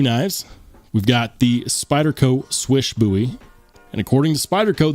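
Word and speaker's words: Słysz: SZ is commonly pronounced slish or S but according to Spyderco who worked directly with marching swish they say pronounce it swish like you don't miss on the basketball court other knife that I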